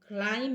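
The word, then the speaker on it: climb: सी एल आई एम सी एल आई एम बी तो क्लाइम हो गया क्लाइम बी हट गया एन यू एम बी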